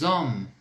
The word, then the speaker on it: hommes: Então eu faço essa ligação aí do S com o O. Por que eu falo o O? Porque o H ele é mudo, ele não terá papel nenhum aí nessa palavra, ok?